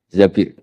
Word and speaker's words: Zabir: Di hadis ini bukan bacanya bukan Zubair, tapi Zabir. Abdurrahman bin Zabir.